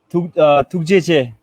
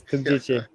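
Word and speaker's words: ཐུགས་རྗེ་ཆེ: Tukjeche. Tumjeje. Yes, yes, Tukjeche. Okay, okay. What about Hindi? Hindi, Dhanyawad. Danewat. Oh, Tunjeje.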